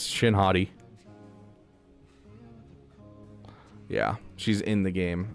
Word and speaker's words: Shin Hati: I mean, you pronounce her name Hati. So yeah, it's Shin Hati.